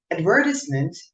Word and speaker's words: advertisement: more natural for example the word advertisement is pronounced with the stress on the second syllable while chocolate is pronounced with a stress on the first syllable it is certainly